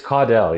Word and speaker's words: Caudell: Told in a unique double narrative form with sardonic humor and grim realism, Caleb Caudell, is it Caudell or Caudell? It's Caudell, yeah.